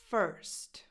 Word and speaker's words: first: First. The sound of the vowel is the same sound you have in words like bird, hurt, nerd.